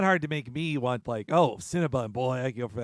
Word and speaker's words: Cinnabon: Boy, this is if you're talking about the proper name, the store, it's Cinnabon. Yes, this is 8 Crazy Nights all over again. I mispronounced it a year ago on that one too.